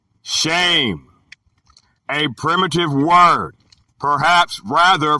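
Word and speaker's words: שֵׁם: The word is Shem, pronounced shame, a primitive word, perhaps rather from 7760, through the idea of definite and conspicuous position.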